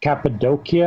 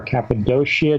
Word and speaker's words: Cappadocia: Cappadocia, or Cappadocia, depending on how you want to pronounce it, is an incredible area where you have these huge underground cities.